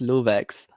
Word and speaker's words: LooveX: I guess one thing I can say is that my name is actually pronounced LooveX, and it comes from like my real name, which is Luve.